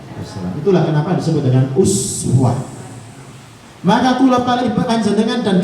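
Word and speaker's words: أسوة: lakum fi rasulillahi uswatun, boten uswah, boten rafa, pakai doma tapi iswah bacanya. Boleh jenengan mau baca laqad kana lakum fi rasulillahi iswatun hasanah, itu boleh.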